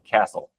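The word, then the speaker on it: Qastle: impressive, if not more, and that is uh Castle. And it's spelled with a Q. So, it's QA SL E. Castle.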